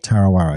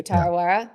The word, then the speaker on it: Tarawera: It was if I'm pronouncing this incorrectly, please help me. The Tarawera ultra marathon in New Zealand, 100K. Tarawera, yeah. Thank you, Tarawera.